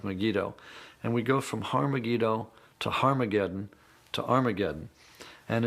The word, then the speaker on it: Har Megiddo: written in greek armageddon has an aspirant at the beginning meaning it's pronounced with an h so it originally was